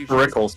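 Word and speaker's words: Pericles: Also, you pronounce his professor's last name wrong. It's Perickles.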